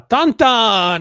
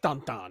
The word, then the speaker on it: Tintin: did you feel about tintin uh tantan i like dantan i don't know about okay that's how you pronounce it yeah i don't know